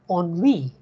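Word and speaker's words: ennui: e n n UI now no amount of your general knowledge will help you to pronounce this word right it is on we so either you know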